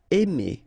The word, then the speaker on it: aimer: Aimer. Okay, remember when you combine A and I, then you get the sound E. Really open, E.